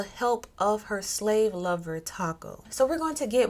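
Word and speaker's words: Takoo: But Taco, T-A-K-O-O, Taco, I believe it's Taco. That's how they pronounced it in the video.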